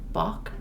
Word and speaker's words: balk: Balk? Bach. Rhymes with cock.